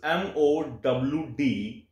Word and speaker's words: modals: Modals, the pronunciation of modals is MOWDUHLZ, modals. So, modal auxiliary verbs, they are also called modal auxiliary verbs.